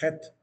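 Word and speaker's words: ח: La traducción que, la manera como ellos la pronuncian y le llaman a la letra es het, con una letra J bien rasgada, het, con una J bien sonada.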